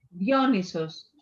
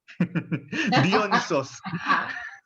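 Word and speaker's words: Dionysos: Dionisos. Dionisos.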